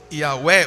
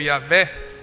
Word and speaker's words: Yahweh: Os estudiosos do hebraico dizem que a melhor pronúncia, o que seria mais adequada, seria Yahweh ou Yavé. Yah, porque eles pegaram do nome da palavra aleluia. O Yah no final é o nome de Deus. Então eles acham que por esse tipo de palavra, a primeira sílaba é Yah.